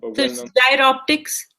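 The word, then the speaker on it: Giroptic: so that's the most gy Optics sorry how do you pronounce the name gy optic gy optic um like a gyroscope oh like a gyroscope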